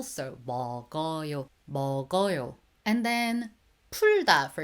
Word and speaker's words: 먹어요: But the G bottom consonant carried on to the next syllable. So 먹어요.